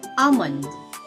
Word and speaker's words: almond: that is salmon and almond okay so these two popular foods are tricky because the l is silent in both so you don't say